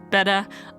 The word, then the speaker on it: betta: The first fact is that Betta is in fact pronounced Betta. I always thought they were beta fish, but I was incorrect.